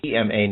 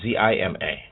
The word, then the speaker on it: Zema: He's Zema, not Zima.